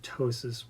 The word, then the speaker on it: ptosis: I mean, I think aesthetically how it looks, people with ptosis, which means that the nipples and breast tissue is hanging low. And that's spelled Ptosis, Yes.